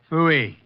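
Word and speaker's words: pfui: Fooey. It can be spelled in several ways. I spell it P-F-U-I. Fooey.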